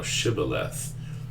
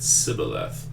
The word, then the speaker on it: Shibboleth: If he said no, then they said unto him, say now Shibboleth. And he said Sibboleth, for he could not frame to pronounce it right.